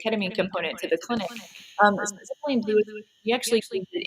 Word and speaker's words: methylene: How do you pronounce that? Methylene blue.